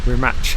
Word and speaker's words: Rimac: drive the rim match I've been saying remark after now but you pronounce it apparently we match like TS think I've got behind